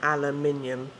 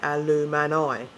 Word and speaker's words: aluminium: So, yeah, aluminium. So we say minium and they say alumani. Mani. So they pronounce the I, the vowels, an uppercase I instead of a lowercase I.